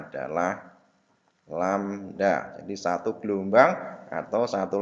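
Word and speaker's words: lambda: namanya satu Blumbang atau satu lamda ini tadi membacanya adalah lamda di satu gelombang atau satu lamda jadi jarak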